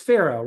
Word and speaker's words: Sferro: know where is it it's sparoh right am I saying it right yep you're saying it right okay perfect so I